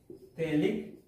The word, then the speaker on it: phthalic: structure is known as phthalic acid okay p h e h a l i c acid that is p is silent okay that's why it